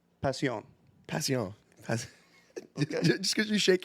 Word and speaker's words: Pasión: That's definitely not how it's said, dude. That- You gotta look this shit up before you Look it up. La Aroma de Cuba. Okay? Pasión.